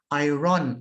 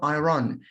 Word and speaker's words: iron: i have to say some thai people pronounce this word i run i run i run no it's not iron look at my mouth look at my mouth brain to go iron iron actually it is iron iron the clothes iron